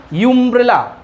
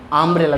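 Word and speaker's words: umbrella: হ্যাঁ, আকারের কারণ আমরা তো বলি না ইউমব্রেলা, বলি কি? আমরা বলি আমব্রেলা।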